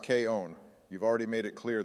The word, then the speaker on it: K-On!: girl in K on actually Donald it's pronounced K own you've already made it